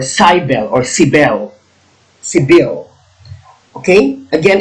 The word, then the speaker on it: Cybele: Cybele. There are many pronunciations here. Some people pronounce it Cybele or Cybele or Cybele.